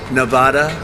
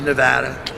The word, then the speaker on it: Nevada: And don't ever mispronounce the name. You're not allowed to do that, Joe. You mispronounce the name, you got a problem. You ever see somebody when they say it's Nevada? Nevada? Never. Oh, they're in deep trouble.